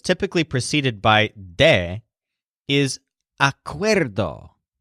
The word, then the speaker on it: acuerdo: preceded by de is acuerdo this is a word whose stress sounds kind of like weirdo so Jolin the chef